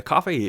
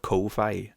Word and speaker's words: Ko-fi: Apparently the service is called Coffee, but it's spelled Ko-Fi, and I want to call it Ko-Fi, but apparently it's just called Coffee.